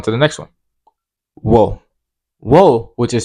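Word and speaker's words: を: Wo, which is spelled WO, is the Japanese particle that tells you the object of a sentence and the verb of a sentence.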